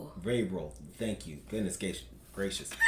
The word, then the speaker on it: Vrabel: Mike Mike Vrabel.